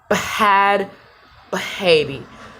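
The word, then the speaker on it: Bhad Bhabie: Next up, Bad Baby. Still don't know how to say the name. She says Bad Baby. But what's the H for if it's Bad Baby? So I say Bad Baby.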